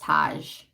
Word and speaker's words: Taj: Taj is Taj. Her name is pronounced Taj.